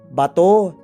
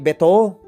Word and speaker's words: bato: Mali po. Bato hindi beto.